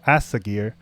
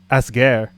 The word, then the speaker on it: Asger: And among those who have slightly higher power, like this G10 called Asagir, I completely butchered that name. It's more like Asger.